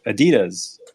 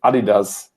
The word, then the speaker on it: adidas: listeners we pronounce it adidas but i don't know what the right answer is so yeah it's a german brand of course and in germany we say adidas so that's i think